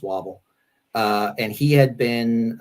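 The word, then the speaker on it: Wavell: the command of uh general sir archibald wobble i think that's how his name is pronounced wobble uh and he had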